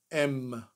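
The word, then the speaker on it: אם: The mother, who is called in Hebrew, Em.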